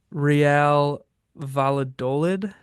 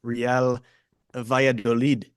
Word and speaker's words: Valladolid: Yeah, looking at it now, I would guess with the way they have double L's, Real Valladolid would be my pronunciation, but that's just Ah, me.